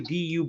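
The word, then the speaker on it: Dubois: uh usually that's do when you see duu b o i s it's French it's du since when do you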